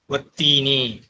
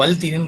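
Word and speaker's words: والتين: வத்தீனி வஸ்ஸைத்தூனி குர்ஆன்ல இருக்கு. வத்தீன் நான் எழுதுறேன் வத்தீன் இல்லையா. எல்லாரும் அப்படிதான் படிப்போம், யாரும் வல்தீன்னு படிக்க மாட்டோம். வத்தீன்.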